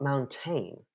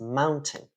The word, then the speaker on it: mountain: It's not mountain, right? It's mountain. Also, where is the stress in the word mountain? It's on the first syllable.